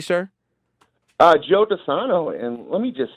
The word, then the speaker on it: Joe DiSano: Am I pronouncing your name correctly, sir? Joe DiSano, and let me just say, guys, I'm a fan.